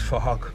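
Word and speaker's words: Phuc: His name is Fahok, but spelled with a PH, so it sounds like Fahok.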